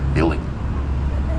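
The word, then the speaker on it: BVILDING: to be more fancy there is no letter U in that alphabet they use a v instead still pronounced building this huge flat section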